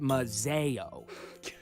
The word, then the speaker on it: Mazio: It's a letter from the Thorns, back in Mazio. It's actually pronounced Mazeo.